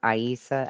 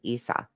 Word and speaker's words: Isa: The Irish, during their sojourn in Egypt, gave the name of I just want to say, I think that he's pronouncing that wrong, and it's not Aisa. I think it's Isa.